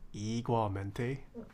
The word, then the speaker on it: igualmente: But being half Korean Hispanic, I can confirm is pronounced igualmente.